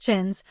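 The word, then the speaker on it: Champneis: Lord Edward Shamnese, pronounced chins, old bees fifth son, had met her in Hollywood and in a month they were married.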